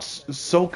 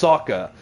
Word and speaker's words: Sokka: It's not Soka, it's Sokka," and stuff like that.